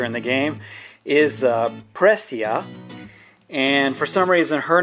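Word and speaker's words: Presea: when he sees precia but her name is precia not prisaya which i've heard people say and then i watch the english version and the characters pronounced it as prasea but that's incorrect her name is presia which is very cute so yeah there's that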